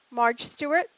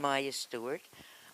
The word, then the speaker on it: Maya Stewart: Marge Stewart, is that correct? Oh, thank you. She is also speaking about Ovington Avenue. Thank you. I wasn't sure if I got your name wrong. Welcome, I'm Maya Stewart.